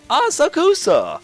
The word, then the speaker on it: Asakusa: I'm pronouncing all this wrong, I know. That's right! Asakusa! The town that recalls Japan's nostalgic traditions. This is Asakusa.